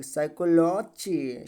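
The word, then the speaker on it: psychology: का साइलेंट होता है नियम किसी भी वर्ड में स से पहले पी क्या होता है साइलेंट होता है ठीक है फिलॉसफी अब इसको फिलोसोफी नहीं पढ़ा जाएगा साइकोलॉजी सुनामी ठीक है साइकोट्रॉनिक्स नेक्स्ट यू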